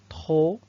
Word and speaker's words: trop: Trop, donc le P ne se prononce pas.